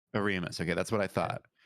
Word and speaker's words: Oremus: will how do you say your last name oremus a remus okay that's what i thought andrew how do